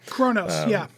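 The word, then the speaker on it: Qo'noS: Kronos, No, I'm even sorry, though it's spelled you, it's completely Kronos, not like that. Hey, at least it's spelled weird for that one. Q-O apostrophe O-N-O-S. Yeah, Kronos.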